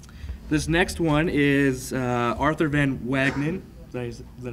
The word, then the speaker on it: Van Wagenen: This next one is Arthur Van Wagenen.